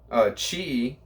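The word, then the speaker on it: Chih-i: person that started this, Chi is his name. Chi CHIH -I is how it's said.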